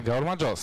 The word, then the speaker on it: Gaumardżos: A wspominamy pana żonę, ponieważ jest ona współautorem książki Go Marjos. Jak słyszą Państwo, mam już lepszy akcent, dobrze mówię? Go Marjos. No, dobry. Na ostatnią sylabę wszystko tak się jest, zgadza.